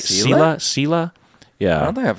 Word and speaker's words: Selah: That's how you pronounce it, right? Selah?